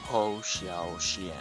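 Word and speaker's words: Hou Hsiao-hsien: Donc de Woo Isiao Isen. Cheerful Wind de Woo Isiao Isen. Bon, c'est dur à dire. Voilà, je mettrai la prononciation du nom. Ho Xiao Xian.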